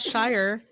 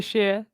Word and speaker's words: Shire: Did the hobbits live in the sheer? Sheer? Sure? It's not Shire. Shire? It must be sheer.